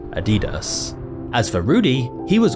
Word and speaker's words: Adidas: Depending on where you're from, you may pronounce it Adidas, or personally, I've always heard Adidas.